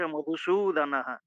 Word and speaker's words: মধুসূদনঃ: হ্যাঁ, তং তথা কৃপয়াবিষ্টম অশ্রুপূর্ণকুলেক্ষণম বিষীদন্তম ইদং বাক্যম উবাচ মধুসূদনঃ। বেশ, ঠিক আছে। হ্যাঁ, মধু রস্যু দন্তস্ব দীর্ঘ, ওই জন্য দীর্ঘটা একটু বড় উচ্চারণ হবে, লম্বা উচ্চারণ হবে, দীর্ঘ।